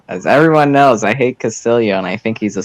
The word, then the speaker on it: Castillo: As everyone knows, I hate Castillo and I think he's a social fascist, but I'll just answer this question. Double A's are pronounced like ya in Spanish. Castillo.